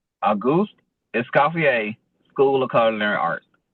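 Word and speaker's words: Auguste Escoffier: So, the way you pronounce pronounce it is a goose escapier, school of culinary arts.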